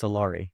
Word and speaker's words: Solari: And it is pronounced Salari, right?